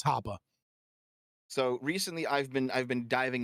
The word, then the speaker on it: Hoppe: And so people will come in and be like, Hoppy. And it's like, that's not how you say his name, but it's German. It's Hoppe.